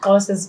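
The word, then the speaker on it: Xhosa: I don't speak Kosa. Oh, so okay. You're from that tribe that... Yes. Apparently Zulus and like other tribes also do the click, but Kosas do it more than...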